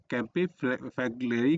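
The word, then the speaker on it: Campi Flegrei: Pronunciation मतलब अलग अलग हो सकता है, ठीक है, तो बस आप याद रखिएगा, इसको कैंपी बोलते हैं हम लोग, है ना, फ्लेग्री बोलते हैं, कैंपी फ्लेग्री।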